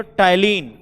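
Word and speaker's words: ptyalin: एक नाम है डियर टैलिन। क्या नाम है, टैलिन। देखो पढ़ते हम लोग टैलिन है, पी साइलेंट हो जाता है, एक्सेंट जैसे साइकोलॉजी में, जैसे निमोनिया में पी लिखते हैं ना, वैसे टैलिन।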